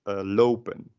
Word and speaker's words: lopen: Then how you pronounce it is as lopen, and that's the same sound as the double sound makes.